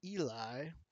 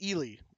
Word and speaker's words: Ely: Flour going to Eli. Or is that, sorry, Ely. I've pronounced this Eli forever, and it is incorrect. It's Ely.